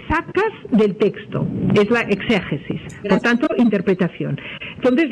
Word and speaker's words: exégesis: Hacer una exegesis, quizá yo lo pronuncio mal en castellano, porque en catalán es exegesi, pero en castellano creo que se pronuncia exégesis, ¿no?